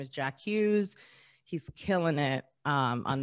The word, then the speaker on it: Jack Hughes: pandemic made me into his name is jacques like jacques it's jack hughes but yes when they're